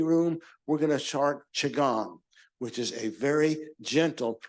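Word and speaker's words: qigong: q i g o n g but it's pronounced chagong thank you I never would have guessed someone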